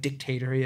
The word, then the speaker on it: dictatory: very kind of like dictatory about it um emphasis on the first syllable of that and uh